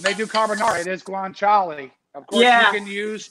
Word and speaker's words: guanciale: It's the how do you pronounce it? Guanciale? Guanciale.